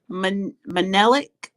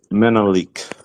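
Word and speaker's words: Menelik: I'll pass um so I'll go to um manelic did I say it right manic um yes um my name is um it is menik menik sorry about that yeah like the Emperor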